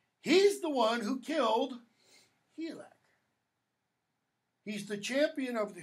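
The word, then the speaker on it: Hygelac: His name, by the way, Helak, sometimes it's pronounced Hidjelak.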